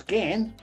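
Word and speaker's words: Ghan: that was cancelled um see the gan pronounced again from darwin to adelaide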